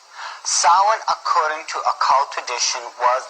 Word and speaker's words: Samhain: call it sowing now when you look at the name it looks as if it's saying samhain or something like that no no no this is probably pronounced in the ancient gaelic as sahan sowen according to occult tradition